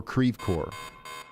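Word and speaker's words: Creve Coeur: Uh Crave Core Crave Cra, I need to record this one too because I'll plum forget it. I will definitely forget it. Crecore. Cre or creve core. Crevecore. Okay. All right. Uh creve core.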